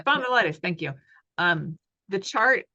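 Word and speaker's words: spondylitis: spond luos I can't oh ankos spondilitis y spondilitis thank you um the chart uh on that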